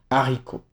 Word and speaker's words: haricot: Le H aspiré interdit toute liaison donc il sera toujours séparé du mot précédent comme par exemple haricot.